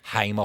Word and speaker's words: Hamer: Hamer Hall, not Hammer Hall, as someone said to me the other day. I was like, how did you not know it was Hamer?